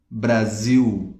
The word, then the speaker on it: Brasil: Eu demorei anos para entender que a pronúncia era Brasil, né? Brasil. Demorei muito tempo, gente. É muito difícil isso. Porque em espanhol não faz sentido. Em espanhol seria Brasil. Brasil, ah, me gusta Brasil. Estoy en Brasil. Vamos, Brasil. Mas aqui no, em português é diferente, né?